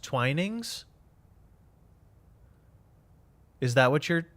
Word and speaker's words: Twinings: It's a hard eye.